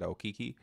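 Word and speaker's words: Okeke: the proper way to say it it said oiki um we're looking at my guy um Usman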